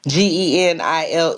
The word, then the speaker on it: Genile: Just think Captain and Tennille and replace the T with the G.